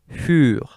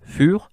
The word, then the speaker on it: für: So whenever you see that in German, you know that it's pronounced U, as in für. And that also, this colon tells you that you need to stress that. It's not für, it's für, okay?